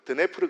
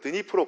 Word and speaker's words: 드니프로: 그게 바로 옛날 제가 학생 때 배웠던 발음으로는 드네프르 강이라고 했고요. 그러니까 지금은 우크라이나에 흐르는 강이니까 우크라이나어 발음대로 드니프로 강이라고 하고요.